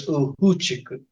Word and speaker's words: Ufuchiku: And in Uchinoguchi, some people say Hogan, the F's are said like H's. So it's actually spelled Ufuchiku. Okay. Ufuchiku, but it's Ufuchiku. Okay, so I've been pronouncing it wrong.